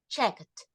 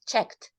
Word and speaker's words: checked: Because it's not check, it's checked.